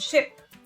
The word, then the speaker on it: ship: can see here the difference between the prudency pronunciation of ship which is the vessel and sheep okay so